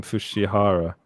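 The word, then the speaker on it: Tsujihara: And then Kevin, I can never say his name, Sujihara. Yeah. And Kim Masters wrote the expose on him as well. The T is silent.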